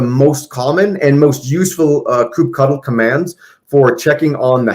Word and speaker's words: kubectl: Kubectl, though I've heard people pronounce it kubectl or kubectl, this is the official CLI of Kubernetes.